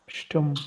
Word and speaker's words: stumm: How will we pronounce S in this word? Sure. Sh. Sure. Then Sure. T is coming.